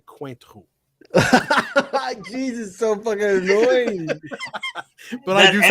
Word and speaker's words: Cointreau: I call it Cointreau. It's technically Cointreau.